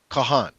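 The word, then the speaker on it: kohen: hebrews pronouncing stuff so how do you say cohen uh priest yeah kahan so we see the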